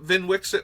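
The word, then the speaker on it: Vnwxt: zinder split so yes if you get VIN Wix it that is how his name is pronounced just a little fun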